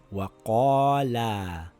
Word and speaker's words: وَقَالَا: For example, this word reads Waqaalaa. I pronounce the long vowel as normal.